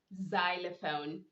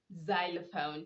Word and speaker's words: xylophone: not center yes i do hear some people pronouncing the word as sander you don't say sender you say zender we also have xylophone xylophone that because the x is followed by a